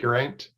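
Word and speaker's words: Geraint: name garant is it Grant uh well if if your Welsh you sort of roll the r a little bit and the AI sort of sounds a bit more like an eye it's well yeah I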